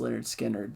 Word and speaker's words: Lynyrd Skynyrd: 7, Kate Bush, Hounds of Love, and then the last pick for me is Lynyrd Skynyrd, pronounced Lynyrd Skynyrd.